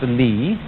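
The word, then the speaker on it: 理: you remember this word which is pronounced lee and which had as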